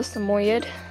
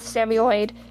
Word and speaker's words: Samoyed: cocker spaniel snowball the Samoyed and that is how you say it it's not Sam Boyd or anything like that it's more you'd okay